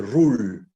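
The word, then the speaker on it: Rolle: Son de Ruhl, Lagrange, que voy a empezar por el de Ruhl, que se escribe Rollie.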